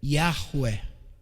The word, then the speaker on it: Yahweh: ele é chamado de, alguns leem Yahvé, né, se fosse traduzido para o português de forma seca, mas a pronúncia seria Yahweh.